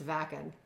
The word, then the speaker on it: Wacken: We were saying whacken. It's vakan. vucken cuz it's German and the V's or the W's are pronounced like V's in German.